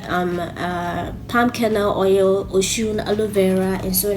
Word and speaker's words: Osun: dudu ocean black soap yes it's pronounced ocean apparently i don't know and the face